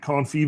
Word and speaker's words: confit: You can't confee vegetables. And the tea is silent.